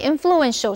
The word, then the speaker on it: influential: record attendance，决赛吸引了破纪录的出席人数。继续我们看的是 influential 这个形容词，注意它的 t 在这里是发 sh 的音，念成 influential。influential 的动词是 influence，I-N-F-L-U-E-N-C-E，意思就是影响，所以 influential 是指影响力大的或者具有影响力的。例如 This is the most influential magazine in